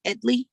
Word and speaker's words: Edley: My father last name is pronounced Edley, and when my father